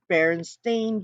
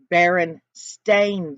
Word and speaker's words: Berenstain: Berenstain Bears. It's stain, not steen, guys.